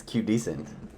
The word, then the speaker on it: QDecent: the cute dusting podcast why are you saying it wrong it's cute decent i said it was q decent last time and you're like oh it's q doesn't i swear to god